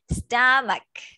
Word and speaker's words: stomach: Stomach. We don't read the H. We don't say stomach. It's stomach.